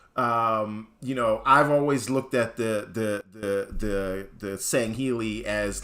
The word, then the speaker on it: Sangheili: The Sangheili, or however you pronounce it, I think it's Sangheili, right? Yeah, it's Sangheili.